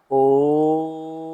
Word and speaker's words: ओम: ओम हमने ओ को लंबा खींचा मा को बहुत छोटा रखा दूसरी बार में दोनों बराबर ओम दोनों बराबर रहे और तीसरी बार में हम ओ को छोटा कर देंगे। मा को कीमा खींचेंगे।